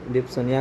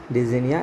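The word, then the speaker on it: dyspnoea: डिप्सोनिया को डिजीनिया इसका प्रोनाउंसिएशन होता है।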